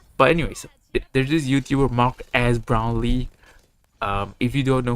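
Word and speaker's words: Marques Brownlee: YouTubers and cash grab Mark as brownley um that yes that's how you say his name I will not be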